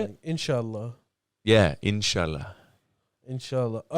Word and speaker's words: inshallah: Inshallah.